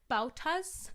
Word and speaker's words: bauta: they are fitted with bautas and dominoes. The bauta and domino. And I had to Google that shit. Yes, I think I also Googled it. A bauta? I don't know how to say it.